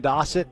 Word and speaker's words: Dossett: uh oh yeah Mason dossett as in Rhymes almost rhymes with Fawcett it rhymes with faucet if you're from the Midwest there you go Paxton